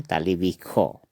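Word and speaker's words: তালব্য শ: ऐसे विश्व होता है तालिबिश्व, लेकिन इसका उच्चारण होगा हमेशा असमिया में तालिबिखो। ठीक है दोस्तों। क्या होगा? तालिबिखो। स का उच्चारण हमेशा असमिया में खो होता है, ख होता है।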